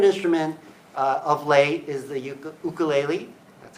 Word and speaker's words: ukulele: I like to play guitar, but my favorite instrument of late is the ukulele. That's how you pronounce it, ukulele.